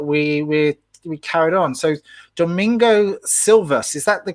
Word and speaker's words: Domingo Silvas: two years later we we carried on so domingo silvas is that the correct pronunciation of your name yes correct excellent so